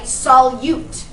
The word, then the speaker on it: solute: that the solute okay the U is a long u right solute that is the stuff